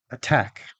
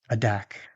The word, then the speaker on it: attack: The following words have the T in the stressed syllable, which means we don't use the flap T, but we use the strong T or the fully released T instead. Attack, not adack. Retain, not redain.